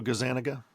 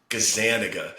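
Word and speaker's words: Gazzaniga: Oh, Michael Gazanaga. Gazanaga.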